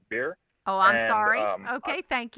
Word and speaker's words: Bexar: doing in beer County I know a lot of people say it's Bexar but it's actually pronounced beer oh I'm sorry okay